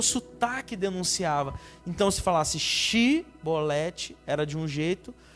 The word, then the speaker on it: Shibolete: Então, se falasse Shibolete, era de um jeito.